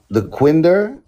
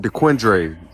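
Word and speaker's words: Dequindre: The end of the quinder. How you think it's spelled? Uh Lopez. The quinder.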